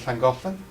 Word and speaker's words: Llangollen: Although just to be clear, the double L sound in Welsh, the only other language in the world which has it is Zulu, which is an ironic link, right? It is, right? Double L sound, I think Llangollen.